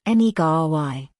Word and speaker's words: Negary: This word is from the Kochi language, it's pronounced Negary.